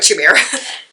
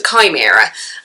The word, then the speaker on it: chimera: pronounce it Chima Kima K mirror uh K miror uh okay it's a k mirror not a CH mirror we learn new things every day people so it's a chimera and yes so because